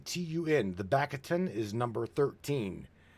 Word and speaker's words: tun: it, refer to the backtun, b a k t u n. The backtun is number 13. Then we've got what's called the katun, which is spelled k a t u n and that is the number zero.